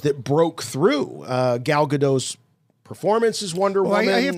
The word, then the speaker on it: Gadot: broke through uh gal gadot's performance is wonderful i have to correct you her name is gal gadot like gadot the nerds get crazy if you say godot really they go they